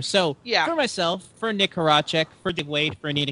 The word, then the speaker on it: Horacek: It's Horacek, everybody. Remember, Horacek. It's Horacek. Why do you have so many problems pronouncing your name?